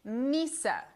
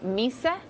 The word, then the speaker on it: mys: this year guys apparently it's all about Swedish Misa take a look T the season as temperatures